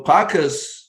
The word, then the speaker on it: Pacas: So Pacas is, it rhymes with an animal, right?